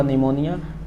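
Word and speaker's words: pneumonia: फेफड़ा के रोग है नी से हुआ निमोनिया परमत साइलेंट है कु से हुआ कुकर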